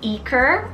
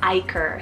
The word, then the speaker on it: Iker: the name eaker or Iker as well i k e r this one's a bass rooted name meaning visitation so in The Basque region you would definitely pronounce it as Iker more so but you can definitely